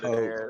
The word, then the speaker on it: taupe: T-A-U-P, taupe. T-A-U-P? Yeah, taupe. No, it ain't nowhere near That's no not pronounced taupe.